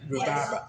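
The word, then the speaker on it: Rhabarber: In High German, rhubaba.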